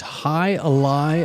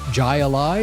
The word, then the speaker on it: Jai Alai: Uh on Cigar City Brewing's Hi Alai IPA, or as many people for years probably have pronounced it, Jalai.